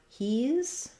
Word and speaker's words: he's: And then for he's, we have the Z sound.